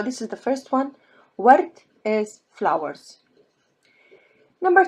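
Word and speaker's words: ورد: So in this case, you read this word as ward, ward. Ward is flowers. From now on, maybe we'll start adding some vocab in Arabic. So this is the first one. Ward is flowers.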